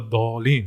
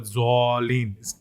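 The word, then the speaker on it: الضالين: For example, when, like someone's like, well, it's like, wala dolin, right? But someone's like, wala zolin. or even worse, wala dualin. It's just, where's the wow? Where did the wow come from?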